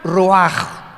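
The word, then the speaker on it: רוח: Y la palabra para espíritu en el versículo 29 es la palabra, se escribe ruach, como suena, con R de Raúl, CH al final, ruach, y se pronuncia ruach.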